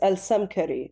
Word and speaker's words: Al-Samkari: It's in Arabic, it's AL-SAMKARI.